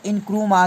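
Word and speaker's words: Nkrumah: वहाँ में नकुरमा जो प्रोनाउंस है इनक्रूमा के नाम से।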